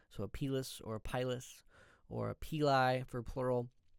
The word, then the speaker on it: pilus: a pis or pyus kind of like potato potato it's pronounced both ways so a pis or a pilus or a Pei for